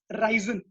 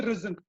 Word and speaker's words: risen: uh then there was this word uh risen so it was being mispronounced as ryzen so it should be risen uh yeah so that